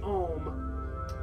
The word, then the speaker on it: Om: So many times you'll see the Om just spelled O-M. That's very common. It's just O-M, usually in caps. But phonetically, it sounds like A-U-M.